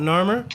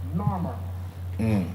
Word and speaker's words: Narmer: The catfish gives you Nar, and the chisel gives you Mer.